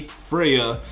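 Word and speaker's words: Freyja: in an ice cage her name was like Freya it's it's spelled like f r e y j Freya you know everyone was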